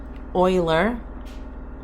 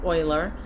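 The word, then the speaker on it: Euler: e because the mathematician Oiler yes it's buil it's spelled like this but it's pronounced Oiler he was the one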